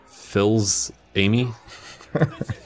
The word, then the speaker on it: Fils-Aimé: Fils-Aimé.